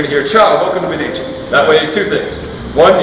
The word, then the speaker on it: Midici: three minutes you're gonna hear ciao welcome to medici that way two things one you know you're